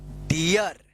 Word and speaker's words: deer: DEER क्या है? डियर। क्या होगा? डियर। इसको डीर पढ़ेंगे, गलत हो जाएगा।